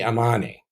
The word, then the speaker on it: Amani: But we know how it was pronounced, and it was Ri'ama Sesa Mai Amani.